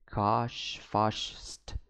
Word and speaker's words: Karshfasht: His name is difficult to verbalize. Karshfasht, pronounced throaty. Karshfasht.